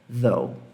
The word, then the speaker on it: though: Se você falar though, você vai ser entendido, tá? Mas é though.